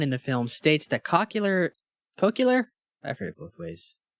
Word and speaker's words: cochlear: Do you know what helps me with the pronunciation of cochlear? You don't want to say The way- cochlear? The way George W. Bush says nuclear.